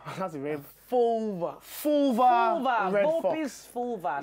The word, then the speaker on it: Fulva: It's Latin. Vulpes. Fulpa. Fulva. It's not vulva. That's a rib. Fulva.